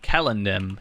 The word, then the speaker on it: Celendim: But it's like I say Celendim instead of Kellendim, even though I know that's technically the correct pronunciation.